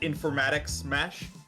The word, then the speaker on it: Informatics Mesh: read that chat folks my character's name is informatics mesh uh pronoun that is pronounced informatic smash isaac may recognize it as rhyming with his character's terrible terrible name that he plays in a campaign that i run now um this character